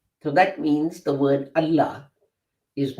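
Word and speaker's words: الله: So illa starts with a hamza. So you wouldn't pronounce, if you combine al with that to make the chief god, the big guy, you wouldn't pronounce the combination as al-illa. You wouldn't pronounce the whole thing as Allah, but as al-illah. Sorry, I nearly said it the other way around. But we don't. We don't say al-illah, we say Allah.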